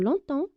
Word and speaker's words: longtemps: des exemples de phrases qui contiennent le mot longtemps pour bien comprendre on commence par la première